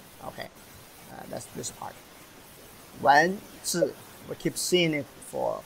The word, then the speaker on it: 子: Wen zi, we keep seeing it for quite a month already, right? Wednesday, we learn Wednesday, so it's easier. This lower part is actually a little baby, pronounced as zi.